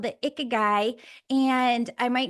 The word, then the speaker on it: Ikigai: Am I pronouncing this right? Ikigai.